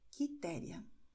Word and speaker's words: Quitéria: e também QE, QI, mas no caso de QE, QI, a letra U não vai ser pronunciada, ela somente vai ser escrita, o som será de K, como nós vemos em Carlos, Marcos, Custódio, Henrique, Quitéria.